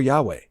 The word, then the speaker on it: Yahweh: These letters do not form a specific word, although in English-speaking countries the placeholder is pronounced Jehovah or Yahweh.